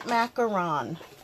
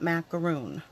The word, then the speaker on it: macaron: So we're going to be using Balmy Blue and Mint Macaron. And it is pronounced macaron, not macaroon.